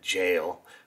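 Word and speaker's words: gaol: you an idea that that jail which they spell G AOL um love that and uh I if I would have looked at it originally I wouldn't have never have pronounced the G as a j um but that's cool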